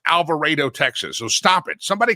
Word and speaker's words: Alvarado: It's called Alvaro, Texas. Anybody from Texas in Texas knows that you pronounce it Alvarado, Texas.